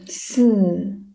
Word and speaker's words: 四: difficult to pronounce, then you can try to think about the English letter S. And you can just drop this part and left the sound. The tongue position of this is the same with number 4 in Chinese. 四. So when you pronounce this sound, you can just make it stronger and make it a fourth tone.